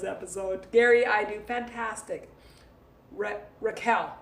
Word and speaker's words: Raquel: Gary I do fantastic Raquel rhymes with shell Raquel Raquel Raquel not Rochelle Rochelle one is Rochelle